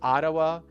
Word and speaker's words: Ottawa: Again, because of the double T, you kind of transform it into a flap D. So, it's Ottawa in this country.